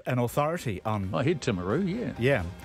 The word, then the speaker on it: Timaru: I heard Timaru, yeah. Yeah, he says it's pronounced locally as Timmers.